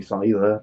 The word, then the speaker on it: Scyther: Like Scyther is actually Scyther because it's a scythe.